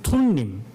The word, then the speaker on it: 둠밈: 그런데 우림이라는 것은 우자라고 하는 그 우자는 알파벳, 히브리어 알파벳의 첫 글자 알렙라고 하는 글이고, 둔님이라고 할 때 투라는 게 실제로는 툰님 이렇게 읽어요. T자 발음이죠.